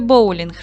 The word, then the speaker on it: боулінг: на склади бо улінх наголос падає на перший склад в слові боулінг три склади сім букв